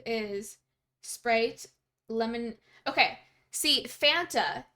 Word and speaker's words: Fanta: Okay, see, Fanta is the way you pronounce that word here in Canada, but I didn't know that for the longest time because my parents always pronounced it Fanta because that's the way you pronounce it, you know, in a Hungarian accent. So I always thought it was pronounced Fanta, and I didn't know it was pronounced Fanta here.